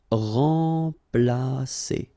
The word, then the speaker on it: remplacer: So M together, and after that you've got a consonant, so it will be like a nasal, so like en. Remplacer.